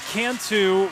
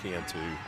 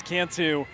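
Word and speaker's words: Cantu: Lucas Canu with a base knock. He did leave the yard yesterday. Yeah, I had his last name wrong. It is Cantou. We knew what you meant though. and Lucas Kantu leading things off putting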